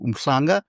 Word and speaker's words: Umhlanga: My parents moved to Umhlanga or Umhlanga. We call it Umhlanga. Mm-hmm. You know how we pronounce it as Durbanites that are not Zulu speaking natively.